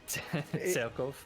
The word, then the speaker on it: Cerkof: Yeah, it's Cereb, but it's actually it's weird because his original name is, well, if you read it in Hungarian, it's Cerkof. So Cerkof.